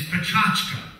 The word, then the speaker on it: Pecha Kucha: welcome to the uh pentakucha elt evening actually the correct pronunciation is prachachka and it's a japanese word originally meaning chit